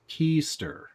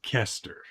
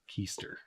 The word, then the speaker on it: Kester: uh clockwork dg said i believe it's pronounced keister not kester keister uh yeah most electronics